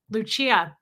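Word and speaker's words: Lucia: Pamela SP butterfly h i pronounced your name correctly because that's my grandmother's name Luchia and if I had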